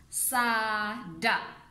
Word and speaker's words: sada: So fish in Dusun is sada. The pronunciation is sada, and the spelling is written here. So S-A-D-A. So we just say it sada, sada.